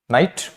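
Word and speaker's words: night: हैं घोस्ट नहीं पढ़ते साथ ही जीएच भी साइलेंट होता है जीएच कम बिनेशन आपको अक्सर देखने को मिलेगा वर्ड्स में डेली लाइफ यूज वर्ड्स में देखने को मिलेगा जो कि साइलेंट होता है अगर इसके बाद कोई कंसोनेंट आए तो for example नाइट हाइट राइट बट अगर कभी जीए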